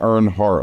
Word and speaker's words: Earnheart: It's a e like earn heart like e a r n h e a r t. So, it's like earn earn the heart of the listener is